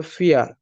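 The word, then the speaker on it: vier: ভি কে জার্মানিতে ফাউ উচ্চারণ করা হয়, ফাউ। তাই এটার উচ্চারণ হবে ফিয়ার। ফোর কে বলা হয় ফিয়ার।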